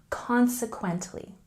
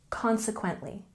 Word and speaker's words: consequently: the phonetic transcription and a stress on the first syllable consequently I'll do it really slow so you can practice with me cons quent Le and normal speed consequently good if we look